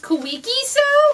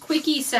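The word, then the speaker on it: Kwik Sew: was going to say I usually would call these kooky so cuz it's got a K but somebody in one of my past videos commented and said oh I think it's pronounced quickie so and I'm like you know what that makes perfect sense why that I thought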